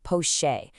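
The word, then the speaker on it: poché: Let's just zoom in on that one key term I mentioned, poche. It's pronounced pocheer.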